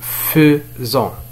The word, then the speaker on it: faisons: فكما تلاحظون فرغم أنه مكتوب بـ AI فإنه ينطق faisant.